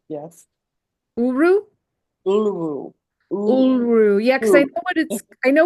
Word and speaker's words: Uluru: Uluru, yes. Uru? Uluru. Uluru.